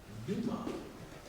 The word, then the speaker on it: Dumas: D-A-M-A-S. The S is silent. Dumas.